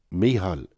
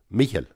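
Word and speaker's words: Mícheál: calvin or in donegal my name would be pronounced mihan mihal in carvin or mihil in donegal mihail come here michael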